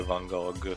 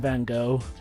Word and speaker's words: Van Gogh: I don't know, Joe, how it's pronounced in English, but we keep the G, the final G. Okay, in America, the G and H are... Well, the G's silent.